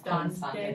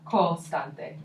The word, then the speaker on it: costante: Because I think I heard constante that time. Yeah, so costante.